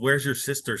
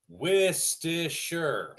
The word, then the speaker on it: Worcestershire: Most people can't pronounce that. Worcestershire. I know someone that says it's called "Where's your sister" sauce.